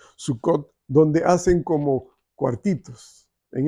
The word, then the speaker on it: Sucot: ahora la celebran la fiesta de sucot así se le pronuncia sucot donde hacen como cuartitos